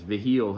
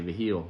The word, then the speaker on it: Vigil: Vigil, I know sometimes if they're from New Mexico, they say Vigil, you never know.